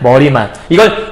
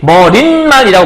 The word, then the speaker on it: 머리말: 인사말, 머리말. 이걸 인산말이라고 굳이 인산말 이렇게 발음하는 사람 없거든? 근데 인산말 하면 이건 인사말이라는 발음이 맞는 거고 얘도 머리말이 맞지 머린말이라고 보통 발음하진 않거든요.